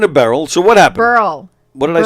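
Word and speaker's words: Berle: and and speaking of barrel so what happened Burl what did I say Burl oh it's pronounced bur it's not like bur lives bur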